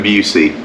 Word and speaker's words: Busey: I'm Busey. Okay, I've heard that about it pronounced every other way except that way.